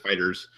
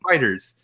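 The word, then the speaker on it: FighterZ: stuff drinkable fighters it's not energy is just fighters highly yeah you don't pronounce the disease like an S hold by many people because I was saying all the time too and then people know it's just fighters um so yeah I mean that when I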